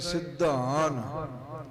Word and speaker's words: सिद्धान: हाँ, ये सिद्धान अदक नाल बोलना है, क्योंकि ये सिद्धां दी गल है। जिवें सिद्ध बोलीदा है ना, इदां ही सिद्धान इंजे दा उच्चारण करना है जी।